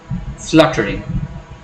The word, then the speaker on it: fluttering: We do not really stretch it, but we are a bit louder when we are pronouncing the first syllable.